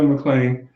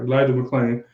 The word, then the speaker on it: Elijah McClain: Elijah McCain. Sorry, no, McClain. I said it right. Elijah McClain.